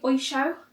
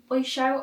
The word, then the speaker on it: Oysho: Oysho. Oysho, O-Y-S-H-O.